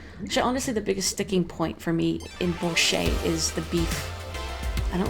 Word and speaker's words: borscht: Do you not pronounce the T at the end of borscht? Borscht? I don't know, actually. Now, maybe I have been saying it wrong. Borscht? Borscht? I feel like it's borscht, but it could be incorrectly.